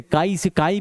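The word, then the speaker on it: χ: अगर 2 लोगों का मोल्स निकालना है, मोल फ्रैक्शन ऑफ ए बोला जाए, इसको हम लोग एक्स से काई प्रोनाउंस करते हैं, एक्स की तरह लिखते हैं और काई की तरह प्रोनाउंस करते हैं।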